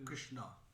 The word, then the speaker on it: Krishna: What's the best to Krishna. Krishna. Krishna. Krishna is the pronunciation.